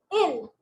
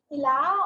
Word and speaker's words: il: I-L, ill. I-L, ill. Not il or ila or something. It's ill.